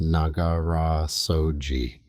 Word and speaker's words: Nagara Soji: The Japanese call it Nagara Soji, pronounced Nagara Soji.